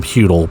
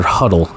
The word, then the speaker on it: Huddle: I've been calling him Hudel, but Tyler Huddle, as I think is how it's pronounced.